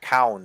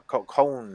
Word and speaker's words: Khan: Or Cown or Cone or no, it's whatever. Khan. It's Khan. It's pronounced as Khan.